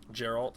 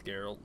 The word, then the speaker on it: Geralt: why I call him I said his name wrong again whatever Gerald it's geralt yeah I don't know